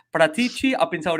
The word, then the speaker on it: Paratici: I try and pronounce it, but maybe I should just say Reggie. But Paratici. I've been told Paratici, right? It's Paratici.